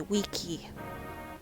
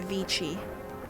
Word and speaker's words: vici: there's no ch sound there's no chi like in italian so it'd be weaky not vichy yeah no soft c it's all hard